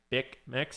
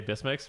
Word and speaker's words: Bismix: I think people prefer saying Bickmix, even though I personally say Bismix because that's just what I'm used to saying since the original pronunciation.